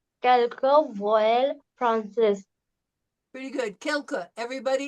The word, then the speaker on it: quelques: prononcer quelques voyelles françaises. Pretty good. Quelques.